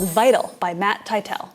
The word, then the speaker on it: Tytel: called vital by matt tytel how do you pronounce his last name tytel it's not tittle matt also created helm